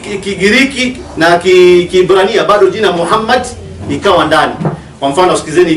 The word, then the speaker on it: Muhammad: vowels, it can be read as Muhammad, which is the name of the Muslim prophet, or as Mamad with no A after the H. According to Ben Yehuda's Hebrew English Dictionary, it is correctly pronounced as Muhammad, not Mamad.